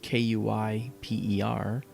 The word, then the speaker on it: Kuiper: That's spelled Kuiper, Kuiper Belt.